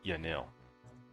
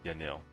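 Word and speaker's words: Yanille: Actually, there's um there's a pub here in now the way I pronounce it, Yanil. I don't know if that's the proper way to pronounce it, but that's how I pronounce it. Yanil.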